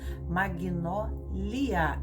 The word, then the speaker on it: Magnólia: tudo com letra minúscula, Magnólia, L-I-A, e Mag é mudo G, é Mag, então M-A-G-N-O-L-A, com